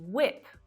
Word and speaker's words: whip: But that rule is broken completely by words like wheat and whip, where it's actually the H that's silent.